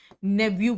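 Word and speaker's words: nephew: ऐसे तो कुछ जगह पे प्रोनाउंसिएशन नेव्यू भी होता है, इसको PHEW है ना, भतीजा को कहते हैं NEPH, नेफ्यू, राइट।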